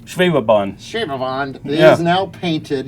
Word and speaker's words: Schwebebahn: James, it looks like you brought some amazing models, and the Schwaberwand, did I say it right? Schwebebahn.